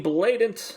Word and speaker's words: Blaident: You can follow me at Blue Sky BLAIDENT, Blatant. You can just type that in.